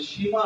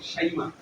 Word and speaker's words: শাইমা: ওয়াসাল্লামের দুই বোন শাইমা, এটা কেমনে কেমনে যেন বিকৃত হয়ে পরে মুসলমানদের মধ্যে সীমা হয়ে গেছে। পরে অনেকে মনে করে এটা হিন্দু না, আসল উচ্চারণ হলো শাইমা, আল্লাহ রাসূলের দুধ।